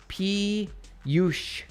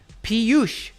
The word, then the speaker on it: Piyush: My pronunciation is Piyush. Piyush.